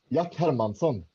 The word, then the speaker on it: Jack Hermansson: I want to say like your native language. It's a Jack Hermansson. Isn't that how they say it? Yeah, kind of. Jack Hermansson.